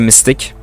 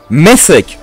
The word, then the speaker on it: mythic: Also, it's a mystic. It's a mystic. Wait, that's not mystic. That's mythic. What the fuck? For all this time, I've been pronouncing it wrong. Mythic.